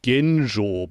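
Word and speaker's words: 玄奘: monk by the name in Japanese you pronounce it genjo but in Chinese probably it's schan Jang um he translated or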